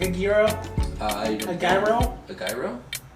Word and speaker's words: gyro: um so how did you say gyro so i think zero no it's greek so how would greek people say it giro hero yeah maybe they because uh